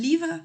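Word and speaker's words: livre: Por ejemplo, un libro y los libros sería un libro es un livra. Y si se dan cuenta, la palabra termina en e, pero yo no estoy pronunciando esa e.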